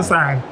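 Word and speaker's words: Tucson: Tusan. Nah, bacanya gimana? Iya. Tusan. Bacanya Tusan. Dari berapa tadi?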